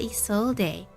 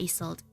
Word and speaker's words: Isolde: And yay, we got Isolde. Not Isolde. Isolde. I'm forgetting her. I'm saying her name wrong.